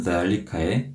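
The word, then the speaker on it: ذلك: 그래서 남성에게는 zalika, 여성에게는 tilka라고 발음을 하는데 이때 남성형인 zalika에 이 zal을 발음할 때도 장음으로 길게 발음하셔야 합니다.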